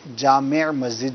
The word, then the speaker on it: جامع مسجد: تو بارہ جامع مسجد بھی بہت کرتے ہیں, جبکہ جامع مسجد جو ہے وہ اس کا صحیح تلفظ ہے.